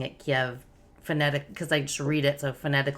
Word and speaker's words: Kyiv: were mentioning because i was like do you pronounce it kiev do you pronounce it kiev right so the